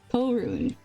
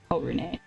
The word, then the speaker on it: Korun: I think his name is pronounced Korun. Korun, not Korune.